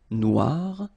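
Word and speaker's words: noire: it okay so phonetically it is exactly the same Noir no Okay g don't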